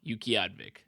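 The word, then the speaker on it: Utqiaġvik: right there i a g v i k Yuki advic Yuki advic that's a beautiful name that's the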